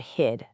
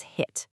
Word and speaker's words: hid: The uttered audio distinctly pronounces this as hit. This specific error scores a 35 and it highlights a really specific acoustic danger. Devoicing a terminal consonant, turning that vibrating duh into a voiceless tu doesn't just make you